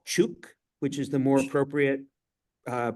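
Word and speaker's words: Chuuk: distance from truck Lagoon which is now called chuk which is the appropriate uh pronunciation and both of those are states in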